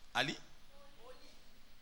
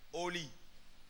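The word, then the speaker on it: Hally: Vous le prononcez comment? Ali? Oli. Donc, c'est H-A. Non. Maintenant, là, on a mis A. C'est O. Donc, c'est Oli.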